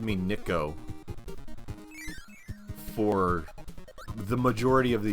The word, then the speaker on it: Niko: not that hard but everybody's like what is this niko nikko who uh and i like it it's nico okay and then like the